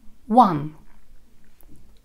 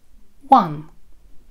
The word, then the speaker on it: one: One. One. Обрати внимание на то, что это слово произносится со звуком W, так называемый взрывной звук, пружинка.